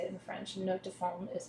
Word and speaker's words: note de fond: Note de fond is how you say base notes in French.